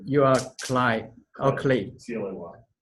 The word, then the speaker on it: Clay: C-L-A-Y. How to pronounce it?